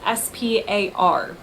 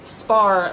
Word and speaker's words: SPAR: Turns out it's spelled S-P-A-R. I would call it spar. They call it, with their accents, it sounds to my ears like spa.